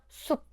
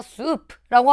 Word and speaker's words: 숲: 숲. 우리가 수프라고 하지 않잖아요. 이게 바로 비읍으로 소리 나는 질종성법입니다.